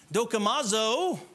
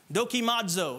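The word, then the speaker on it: δοκιμάζω: the word here examine dokomazo a pronunciation is a little off there but I'll just keep moving be dag defines it as this as critically examining something to determine its genuineness dokimazo there you go that's a little bit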